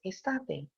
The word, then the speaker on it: Estate: And the surname sounds funny, but it's actually Italian. It means summer and it's pronounced estate, which is interesting.